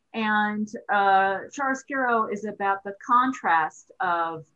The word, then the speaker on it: chiaroscuro: and explain the word chiaroscurist and how it might pertain? Chiaroscuro, actually. Okay. If you think of cappuccino, chiaroscuro is a similar a sound to it, both Italian words. And chiaroscuro is about the contrast of dark and light.